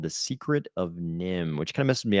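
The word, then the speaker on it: NIMH: And apparently it was pronounced Nim, even though as an adult I would want to pronounce that Niv or Neve.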